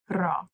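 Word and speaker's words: را: marker but in Persian we have to use ra we're going to place Raw After the noun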